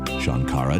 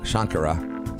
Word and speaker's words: Shankara: Here's your host, Shankara. A.K.A. And it's actually pronounced Shankara. So I gave my own radio producer the wrong instructions on how to pronounce my name, and that's just bad on me.